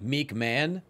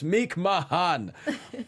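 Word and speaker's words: McMahon: from Matt Hardy and she pronounced it meek man and he quoted that and tweeted please pronounce it correctly it's meek Mahon which anyone who watched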